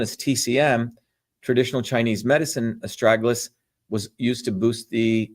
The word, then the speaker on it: astragalus: So again, as I started off, estragalus, estragalus, that's the way you pronounce this, is known as a guardian root.